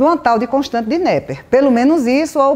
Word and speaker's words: Napier: Apesar de vários áudios que eu escutei, né, sobre Nep, eu já vi a pronúncia nepier, já vi nep, Napier, mas eu chamo Nepper.